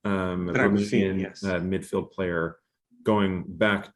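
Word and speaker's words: Drăgușin: and also Dragusin, I think is how you pronounce his name, Dragusin, yes.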